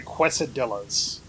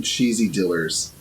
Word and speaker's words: quesadilla: I'm sorry, quesadillas. I personally prefer some fajitas. I've been calling them cheesy dillers for a while now. Like that's my intentionally wrong way to say quesadilla.